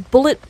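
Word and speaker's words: Bulleit: so good stuff uh it's bullet it's spelled b-u-l-l-e-i-t correct um it's uh I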